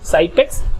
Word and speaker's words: Xypex: Un material puede ser, por ejemplo, de Fester, el Cypex, que se escribe con X, XYPEX, Cypex, y ese es muy bueno cuando tienes humedad.